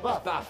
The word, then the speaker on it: HBAF: H is silent. Oh, sorry, BAF. BAF. Sick. BAF. That's BAF.